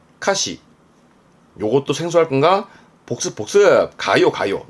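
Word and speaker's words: 歌詞: 그렇습니다 가수의 카슈 카슈가 4였습니다 가사 노래 가사에 카시 카시 요것도 생소할 건가 복습 가요 가요 노래 가요 발음은 가요 가요 그렇죠 학교에 교전했던 겁니다 교가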